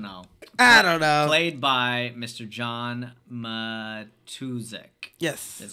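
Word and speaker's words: John Matuszak: know I don't know played by Mr John matusic yes that's how you say his name the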